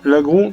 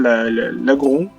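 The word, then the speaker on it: Laggron: Par contre, l'agron, avant je disais l'agron. Je disais l'agron avant. Sauf qu'en fait, quand il réfléchit bien, l'agron, en fait, c'est par rapport au lagon.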